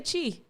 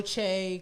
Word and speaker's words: Che: right i just i'm can you say it one more time michael che michael che i don't know why i want to say chi i don't know michael